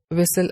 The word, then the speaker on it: whistle: And T is not pronounced in whistle again.